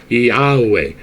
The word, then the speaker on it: Yahweh: That's how it's pronounced. Yahweh.